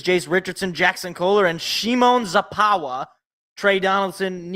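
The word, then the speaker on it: Szymon Zapała: got I got a proper instruction on how to pronounce it's Shimon zapa all right my my buddy is Polish he's got literally his parents are immigrants he know he Tau he taught me how to pronounce Shimon zapa's name so I'm never gonna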